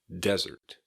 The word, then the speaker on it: desert: But dessert has an emphasis on the second syllable, dessert, and desert has an emphasis on the first syllable, desert.